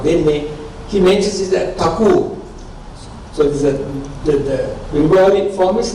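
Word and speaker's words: ঠাকুর: His Bengali name is Thakur. So TH is a Mahaprana third.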